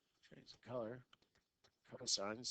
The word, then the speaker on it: sine: the first three letters you don't pronounce it sent its sign is the the opposite